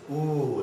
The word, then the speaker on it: U: This one is Ooh, like Ooh.